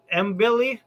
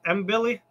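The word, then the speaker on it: Mbilli: Yeah, I've seen his last couple fights, and that's why I wanted to – is that how you pronounce it, Mbili? Yeah, that's how I would say it, Christian Mbili.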